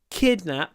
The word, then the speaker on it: kidnapped: I just want to talk about stress, so it's kidnapped. The stress is on the first syllable.